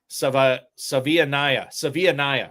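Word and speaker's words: Savaiinaea: Oh my God, Jonas Savanaya. I don't know. Yes. Yes. Savianaya is what it is. Savianaya. You will not go to @Justin_Redwords on X for pronunciations of offensive linemen.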